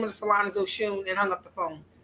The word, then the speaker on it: Oxsun: So, it is the the pronunciation. It looks like Oxen, but it's actually Oshune.